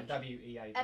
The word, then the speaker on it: Weaver: No, W-E-A-V-E-R. Ebbw Vale? No, Weaver Vale. Oh, Weaver. How do you pronounce it? W-E-A-V-E-R. Weaver. Right. Okay.